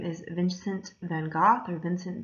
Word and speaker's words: Van Gogh: oneself so this artist his name is vincent van gogh or vincent van gogh is probably the pronunciation you're used to he has chosen to